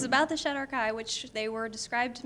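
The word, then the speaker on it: shadar-kai: Yes, this is Unbroken Chain, which is about the, how do you pronounce the race that it's about? Shadowkai. Oh, I had it right. Okay. It's about the Shadowkai, which they were described to me initially as a race of adrenaline junkies.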